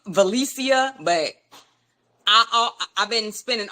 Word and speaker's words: Velecia: correct you on pronouncing but it's valicia with no n and I used to